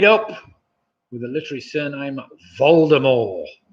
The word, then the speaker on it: Voldemort: with a literary surname voldemort voldemort and that's spelt with a t at the end of course but it's supposed to be pronounced silently so there we have